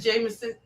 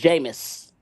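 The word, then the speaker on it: Jameis: I only watch the Giants because of uh is that Jameson? Is that uh is that Jameson? Is that how you say his name? Jamus. It's Jamus.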